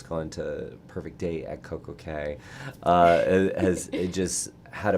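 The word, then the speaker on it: CocoCay: you haven't been to perfect day um at CoCo K is that how you say it is it Coco K perfect day or perfect day at C the perfect day at CoCo K the perfect day at CoCo K okay got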